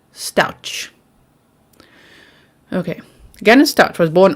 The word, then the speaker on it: Stauch: You want me to say it like ouch? Stauch.